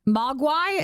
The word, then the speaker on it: Mogwai: Mogwai is how you say it.